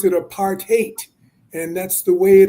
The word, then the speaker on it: apartheid: Uh but it meant and it means literally apart and hate.